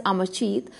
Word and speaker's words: Amarjeet: name is pronounced as Amarjit, but it could be AMARJIT, right?